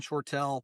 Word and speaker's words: Shortle: Um the website is just my name, Shortell. It's spelled S H O R TL E. So, it does look like Short.